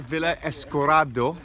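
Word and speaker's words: Villa Escudero: you know yeah California we're at a villa esta corridor that's how you pronounce it and it's a resort in the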